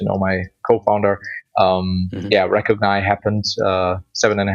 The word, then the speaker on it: Recogni: And uh yeah, I I pronounced it recognize that.